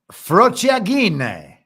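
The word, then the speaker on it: frociaggine: The word he said was frociagine. And that means faggotry? Frociagine. G-I-N-E? G-G-I-N-E, yeah. Oh, is it a hard G? We've already had the hard R. The two G's would be the hard G.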